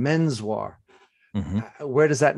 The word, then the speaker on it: Menswar: actually sounded like or how people attempted to pronounce it which was just menswhar so i loved your book your book a